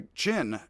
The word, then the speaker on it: Qin: The Qin conquered, it's spelled Q-I-N today. One of the things about the new system that doesn't work so well, Q is CH sound. Odd.